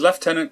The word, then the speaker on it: lieutenant: the war third is lieutenant colonel charles michael de salaberry i know we say lieutenant it's spelled lieutenant there's no f in there i don't know i